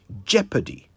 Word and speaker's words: jeopardy: I hope you noticed how I pronounced the word jeopardy j e o p a r d y Jeopardy not Jeopardy Jeopardy is the state